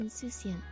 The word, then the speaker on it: insouciant: Oh, how do you pronounce that? Insouciant.